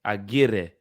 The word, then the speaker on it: Aguirre: Aguirre. Aguirre.